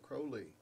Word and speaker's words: Crowley: And what a lot of people don't know is, they want to create some kind of thing where they're saying, Crowley rhymes with holy.